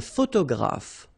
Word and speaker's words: photographe: Un photographe. So here PH and here PH. Pronounce it like F, f, f, f.